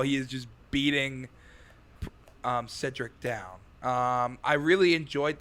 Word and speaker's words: Cedric: When they were like Cynric, I'm like, what am I saying wrong? Is that not It's Cedric.